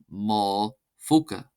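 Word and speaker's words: mo phóca: Both are pronounced as an F sound. For example, ma foca, ma foca, ma foca, ma foca, ma foca, ma foca, ma foca, ma foca, meaning my pocket.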